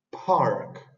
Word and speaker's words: park: esto se dice Park Park la r significa la r suena como una r er y la k queda igual Entonces sería Park que significa parque Park